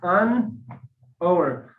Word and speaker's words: hour: For example, like an hour. I told you when we face to H, we should use a. But in this place, the H sound is silent.